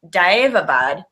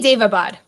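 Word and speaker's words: Daevabad: my my mind like I've been pronouncing it dive Abad but I wasn't sure that was right I say Dave Abad okay so just like day instead of like stretching it out I guess okay all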